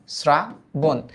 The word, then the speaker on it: শ্রাবণ: রাষ্ট্রপতি এবার দেখতো শ্রাবণ এটার উচ্চারণ তো এস এর মতো তাই স্রা তারপর কি বন স্রা বন এটা দেখতো শ্রদ্ধাসপদ শ্রদ্ধাসপদ